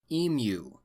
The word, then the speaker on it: emu: historical events took place the EMU war or as my beloved Australian viewers will insist I pronounce it EMU war this war has been